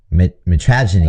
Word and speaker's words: mitragynine: Mitragynine. I just put it. It has contains compounds that act on opiate receptors. Yeah. I think it's mitragynine is how they say it, and then they